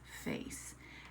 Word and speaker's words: face: Now remember that silent E is making the A say A. Listen. Ace, face. And if you look here, there's that soft C. When E follows the C, instead of making K, we hear S, face.